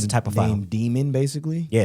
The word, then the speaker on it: daemon: Named Demon, basically. Yeah, it's named daemon.